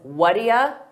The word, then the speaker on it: what do you: have you heard that native speakers pronounce what do you as Whata Whata we combine all those sounds together Whata an alternative is Whata Whata and I use both of them equally so it's important that